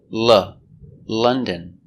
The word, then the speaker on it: London: That's right, London is pronounced London. And month is pronounced month.